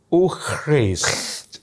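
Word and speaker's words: eau fraîche: Eau fraise. Itu tulisannya gimana itu? Eau. Oh, eau. Frai. C. Oh, C-H-E. C-H-E. Ya. F-R-A-I-C-H-E.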